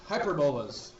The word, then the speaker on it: hyperbola: Let's talk about hyperbolas.